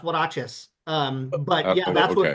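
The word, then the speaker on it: huaraches: Hachis were like Mexican sandals. Yeah, they're w they're it's pronounced waches.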